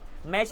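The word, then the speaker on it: match: निकलता है चा का मैच में मै टच नहीं बोलते मैच बोलते हो टी साइलेंट है मैच वच कैच फेच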